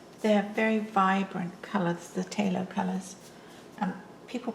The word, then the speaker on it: Phthalo: It's Phthalo, and people pronounce it differently, but my watercolour teacher was British, and she liked Talo colours as well, and she always pronounced it Talo.